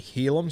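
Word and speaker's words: Heilum: I have been saying for the last few weeks, Hylam. It's actually Helam, so apologies to Helam Luki. I've been pronouncing his name wrong.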